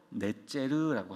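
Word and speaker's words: נצר: 가지라고 하는 이 단어의 원어 발음이 뭐냐면 바로 넷제르라고 하는 단어예요.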